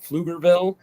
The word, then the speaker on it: Pflugerville: Sure, I'm just north of Austin in a town called Pflugerville, spelled with a P-F, Pflugerville. It's a German town.